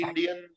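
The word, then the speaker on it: Indien: बोलते हैं इंडिया को, सनी देओल को याद करो, उसकी एक मूवी आई थी इंडियन, बस वही प्रोनाउंसिएशन रहेगा।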